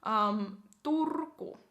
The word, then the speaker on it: Turku: Next on the list we have Turku. Turku. Now, some lists I saw that Oulu was in front of Turku, but this has Turku first, so I guess the ordering doesn't matter that much. Turku.